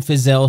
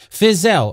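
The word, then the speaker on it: Fiszel: Fizelle, or Phil, is spelled F-I-S-Z-E-L.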